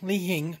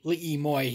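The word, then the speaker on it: Li Hing Mui: Now, Lihimoy, Lihing, depending on how you pronounce it. For some reason, they pronounce it Lihimoy here.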